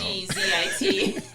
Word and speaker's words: exit: Like the word exit, it's EXIT. Yeah, but it's got like a G kind of sound. EGGZIT.